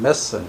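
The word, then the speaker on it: methane: 요거는 CH4라고 하는 메탄, 영어로 발음하면 메슨 이렇게 발음해.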